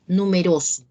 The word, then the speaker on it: numeroso: Numeroso. ¿Lleva tilde? No. No. No. ¿Dónde está la mayor fuerza de voz? En número. Oro. No. En la penúltima sílaba.